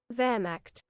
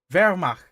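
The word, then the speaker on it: Wehrmacht: How is it pronounced? Vermach. Vermach.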